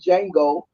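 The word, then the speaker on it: Django: then he's like showed Jango and everybody started clapping he said the D is silent and then he show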